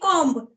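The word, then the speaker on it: comb: like com c MB com but the pr in the pronunciation B is silent so that time I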